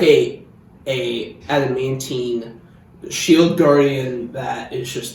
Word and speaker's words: adamantine: I just thought like maybe give it like I always mispronounce it adamantite. Adamantine. Adamantine, yeah. That like you know adamantine what it's for, which is stupid by the way.